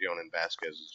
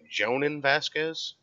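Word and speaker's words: Jhonen Vasquez: Oh, you do pronounce the J in his name, Jonan Vasquez?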